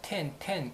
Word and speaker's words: 天: 텐. 그리고 우리나라 그 일본 고유의 발음은 소라라고 있습니다.